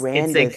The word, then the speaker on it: Randis: Randus. It's a Randis. combination of our names, I got Reagan I and got Dennis.